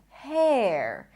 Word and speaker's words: hair: And this is hair. Hair. Here you can hear the E sound. It's an R def thumb thong where you pronounce a full E and then you transition to the R.